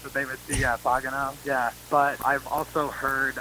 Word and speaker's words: Pagano: I'm not sure why, but they used to call me Pagano, but it's Pagano. Pagano.